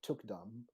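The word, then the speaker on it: thukdam: called Tukdam. Took. Say again, sorry. Yeah, it's spelled T as in Tom, H as in home, U as in under, K as in karma, Mm-hmm.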